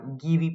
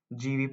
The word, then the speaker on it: Gieve: the poet J Patel uh many people also pronounce his name as gief Patel or gii Patel it's a prop prounce pronunciations often vary but however I'm going to pronouncing it as GV Patel and uh please just remember the spelling